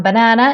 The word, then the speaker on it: banan: This one, banana, in Swedish is called banan. Very important. So the stress is in the back. Banan, in the last syllable.